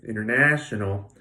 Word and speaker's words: international: I say Inger okay international you hear the third syllable much more clearly than the other ones and that's the stressed syllable international there are some